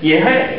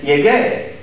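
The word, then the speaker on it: llegué: If I just go L-L-E-G-E, that's yehay. And I don't want to say yehay, I want to say yegay. So to get my hard G sound, I change that G to a GU, and I get yegay again, which means I arrived.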